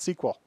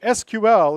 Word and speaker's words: SQL: pronounced I'd be squall it's an initialism you pronounce the letters not the word just so you know